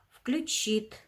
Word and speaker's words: включит: в этих словах ударение включит ударение падает на и ожила ударение на а